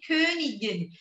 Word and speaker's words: König: wörter ja wir haben zb wo wohnt die königin elizabeth wo die königin elisabeth bonneau meineweh frage wo wohnt die königin aki wir haben hier das wort könig könig